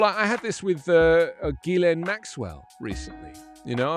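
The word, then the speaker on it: Ghislaine: talking about her and referred to her as gilen and i was like ah that's how you say it gilen and it's the same with virginia duffray who's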